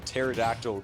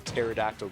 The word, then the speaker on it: pterodactyl: can't you hear a pterodactyl go to the bathroom like you know what a pterodactyl is yes i said why can't you hear a pterodactyl go to the bathroom because the p is silent that's such a good